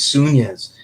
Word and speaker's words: Sunez: um pronounce the name my name is sunies you know it's just created name and it has the spanish accents with the enya sound so a lot of